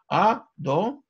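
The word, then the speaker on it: אֲדֹנָי: Никогда это имя не читается так, как оно написано. Ни вот так, две буквы «Юд», ни, как я сказал, тетраграмматоном, а как мы читаем его благословении, так, как вы слышали, да? «А-до-най».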